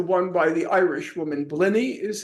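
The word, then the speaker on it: Blinne: Blinny is how you pronounce her name?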